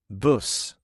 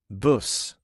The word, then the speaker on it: buss: Buss. Buss.